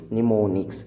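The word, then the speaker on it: mnemonics: are called as the neonics m is silent here they are called as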